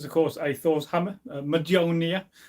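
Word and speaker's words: Mjölnir: This is, of course, a Thor's hammer, Majonia. People always pronounce it wrong. You've got to emphasise the nia at the end.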